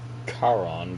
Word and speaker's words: Karon: one forget it so her name's karon but people keep pronouncing it Karen if she has to